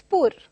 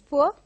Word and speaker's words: poor: And then in the same way, very often we teachers of English listen to students being pronouncing the word as poor. I come from a poor family. So again, the R is silent over here. It is poor.